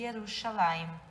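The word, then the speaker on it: ירושלים: de Judá em cima escrito Jerusalém em hebraico que se pronuncia e yerushalaim e vamos falar agora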